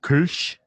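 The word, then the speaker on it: Kölsch: I think in its native German, it's pronounced Kirsch. Kirsch. The little two dots on the O make the U sound.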